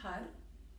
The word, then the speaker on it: har: Donc le son har, il est prononcé avec la pointe de la langue, har, har, har.